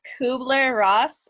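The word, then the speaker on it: Kübler-Ross: please say her name again okay so it's kubler ross and it's called k-u-b-l-e-r-r-o-s-s okay so sarah do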